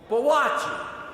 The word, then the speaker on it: Boakye: Boakye.